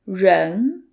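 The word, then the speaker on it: 人: The R in run is a retroflex sound which requires you to curve the tip of your tongue backwards which can be tricky at the beginning but with practice I'm sure you'll learn the hand of it.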